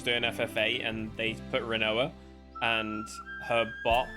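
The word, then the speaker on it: Rinoa: Shall I like it because I can pronounce her like quinoa, and I find that funny. Yeah, Renoir. Her name is Renoir.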